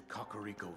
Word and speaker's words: Kakariko: Follow the road out to Kakariko Village. That's how you pronounce that.